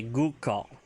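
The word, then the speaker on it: goo'kal: If you want to talk about throwing knife, it's a Gukal.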